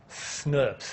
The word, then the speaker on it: snRNPs: going to be spliced you've got these five SNS is how you pronounce them in case you're wondering how to pronounce snrnps they're called SNS these are small nuclear ribonuclear proteins so these